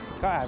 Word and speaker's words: Gordes: งาม มาก นะ ฮะ ถ้า คน ไทย เรียก gordes แต่ ถ้า เป็น ภาษา ฝรั่งเศส ใน ตัว S อาจ จะ ไม่ ต้อง ออก เสียง นะ ครับ ก็ คล้าย ๆ เป็น ตัว การันต์ ก็ อ่าน ว่า หมู่ บ้าน ก่อ แล้ว กัน เดี๋ยว เรา